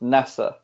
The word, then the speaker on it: Nasr: basically I mean and in Brazil Nasser's pronounced nessa so he had masa